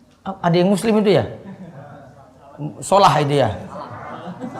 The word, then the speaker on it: Salah: Bukan salah, solah kalau bacanya. Solah. Ikut-ikut berita lagi bacanya salah itu. Solah. Muhammad Solah itu berbendul namanya. Kok salah? Muhammad Solah. Bacanya itu Muhammad Solah kalau bahasa Arabnya, bukan Muhammad Salah.